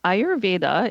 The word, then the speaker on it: Ayurveda: Um Ayurveda it's spelled for people who don't know a Y